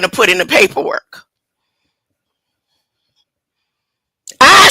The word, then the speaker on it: Ai: I say you know AI in ancient days was not pronounced AI they did not phonetically break it down and say AI land of AI was pronounced the land of I just for your keep